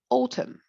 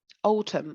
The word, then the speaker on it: autumn: That season of the year, autumn, autumn, of course, the N is silent, but American people say fall.